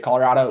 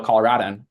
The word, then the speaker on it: Colorado: fun one the state Colorado we say Colorado it's rad as in cool not Colorado like a rod that's wrong you're false so um if you ever know a Colorado you now know how